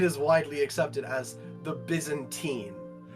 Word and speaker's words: Byzantine: Excuse me, for English, for my English people, Constantine or Byzantine. It's Byzantine, please. Constantinople, Byzantium. It's Constantine and Byzantine.